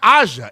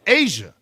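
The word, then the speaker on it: A'ja: You're saying it's it's not Aza, it's Asia.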